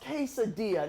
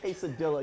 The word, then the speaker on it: quesadilla: Well, I should tell you, one, that it's pronounced quesadilla, not quesadilla, you fool.